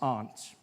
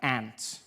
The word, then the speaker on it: aunt: For instance, I pronounce the opposites of uncle as aunt. I say my aunt. Out here, you say my ant, which to me is an insect, which made me look